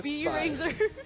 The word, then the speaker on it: SbyRazor: It's a B-Razor. Because they call him Razor.